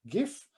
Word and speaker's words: GIF: The simplest way of packaging them is a GIF, not entering the word if it's pronounced GIF or GIF. I will pronounce with the Italian phonetics, that is GIF.